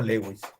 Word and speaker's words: Lewis: señor se llamaba gilbert gilbert louis para nosotros lewis y nosotros lo vamos a pronunciar como lewis entonces vamos a escribir